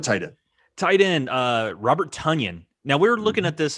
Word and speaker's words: Tonyan: I just want to say, I understand that he says his name is pronounced Tonyan, right?